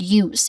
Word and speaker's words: use: First is the word use. If you say use slowly, pay attention to the very beginning. Use. It starts with a sound that's very familiar to the letter Y in yes or yellow.